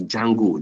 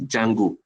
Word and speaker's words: Django: Like one of the frameworks I use, the Django, they call it the D is silent. D Django is a very wonderful